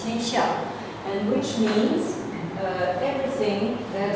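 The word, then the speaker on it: 天下: And this self-representation is encapsulated in this two-character word, which means, which is pronounced in modern Chinese, tianxia, and which means everything that is below heaven.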